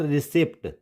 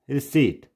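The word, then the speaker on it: receipt: रिसीट, इट्स नॉट रिसिप्ट, इट्स रिसीट।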